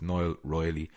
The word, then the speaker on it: Niall: I always get his name wrong, or I say it wrong. I say it arseways, but it's Niall Riley at Rooney Media.